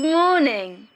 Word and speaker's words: morning: good morning good morning in this sentence the stress is on morning so you say it louder and longer morning good morning now